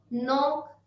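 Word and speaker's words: knock: जैसे KNEE, नी, K को छोड़ दिया। KNOB, नॉब, K को छोड़ दिया। KNOW, नो, नॉक, knife.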